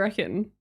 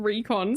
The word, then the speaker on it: reckon: What do you reckon? That's like a That's a term that we say, not recon.